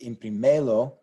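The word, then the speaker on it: imprímelo: accent mark on that we don't want to see imprimelo which would be the natural rule if we didn't have an axon Mark there because this is what should be stressed but since it's not we need a show stress this syllable instead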